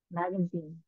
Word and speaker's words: magazine: Magazine. Cái này không hẳn là E, không không hẳn là A hẳn. Magazine. Cái đọc nhanh thì nó thiên về A nhiều hơn.